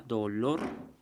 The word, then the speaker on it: dolor: Como la palabra reloj, en la palabra actitud, que lleva al final, en la palabra dolor, que sería en la sílaba lor, la palabra senectud también.